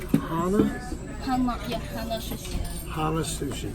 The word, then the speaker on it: Hana: Is it pronounced Hana? Hana, yeah, Hana Sushi.